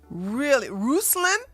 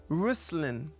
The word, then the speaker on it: Ruslan: And you guys really, Ruslan, that's how you say it. You disappoint me, Dimitri. Ruslan.